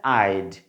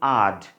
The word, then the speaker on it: I'd: সো আই হ্যাড এর contracted form হচ্ছে আইড, উচ্চারণটা কী হবে আইড, ওকে। কেউ যদি উচ্চারণ করি আড, উচ্চারণটা কিন্তু সঠিক না, প্রনাউন্সিয়েশনটা সঠিক না, দ্যাটস ওয়াই কিন্তু দেখতে পাচ্ছেন ক্রস মার্ক।